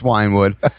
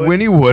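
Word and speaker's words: Wynwood: like no I think it's Winnwood and I'm like no it's winewood so when I get here and I actually started listening you know Winwood I'm like oh I have been saying it wrong Jesus I've been saying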